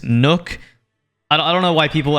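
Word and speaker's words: Nøkk: Kade it's pronounced kaid now isn't pronounced knock it's Nook I don't know why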